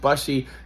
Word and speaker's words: Bussey: bench, brought in Brandon Bussey, I think it's pronounced Bussey.